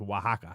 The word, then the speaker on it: Oaxaca: Starts with the O, but it's pronounced Oaxaca.